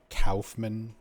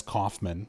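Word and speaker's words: Kaufmann: It's funny because the other characters, like when Harry says it, he says Kaufman. Most people read that name as Kaufman, but the character himself pronounces it Calfman.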